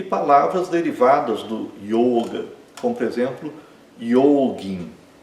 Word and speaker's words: yoga: Outro exemplo, yoga. Yoga, né? Então, yoga é com o fechado, não é yoga, né? É yoga e o o é longo.